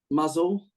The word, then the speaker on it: Mousehole: Go on, have a go. Muzzle? is that muzzle? Is it? Muzzle. Huh? Yeah, but it's not a dog. It's Mousehole. Mousehole.